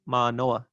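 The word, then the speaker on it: Mānoa: and my understanding is the valley where the university is ma noah also has a long vowel but then the stress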